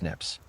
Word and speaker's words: SNP: Instead of looking at STRs, genetic genealogy examines single nucleotide polymorphisms, SNPs, pronounced SNIPS.